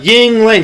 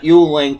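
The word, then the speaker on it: Yuengling: from maryland and said hey it's ying ling not yuling you west coast schmuck they didn't really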